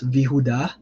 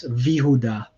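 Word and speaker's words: וִיהוּדָה: So if you see and Judah, it becomes Vihuda. So what happens here is you get the standard Yehuda, you add the V next to it, and then the shva on the V becomes V, and then the shva underneath the yod just drops out. So V Yehuda becomes Vihuda.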